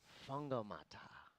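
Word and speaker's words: Whangamatā: The WH Maori sounds like an F, so it's that's right. Fungomata.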